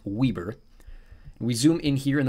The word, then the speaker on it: Weber: I know it looks like Weber State, but it is actually pronounced Weber.